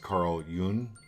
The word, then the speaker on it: Carl Jung: It's pronounced Carl Jung.